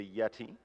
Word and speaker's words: Yetee: And in celebration of providing shirts for our 10th Games Done Quick event, the Yeti has increased their donation amount.